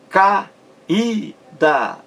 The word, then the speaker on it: caída: traz duas palavras aí caída é isso caída e sai este vamos ver isso aí caída veja bem três sílabas caída caída a sílaba mais forte é ue esse aí forma